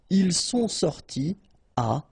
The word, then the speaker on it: ils sont sortis à: You don't make a liaison after your participe passé. Okay, so, ils sont sortis à 15h. Alright, so no liaison here, no link between the two.